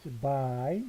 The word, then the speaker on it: zwei: zwei. 요것도 I 발음이죠.